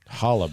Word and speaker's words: challah: challah bread. Challah bread, which is spelled with a C.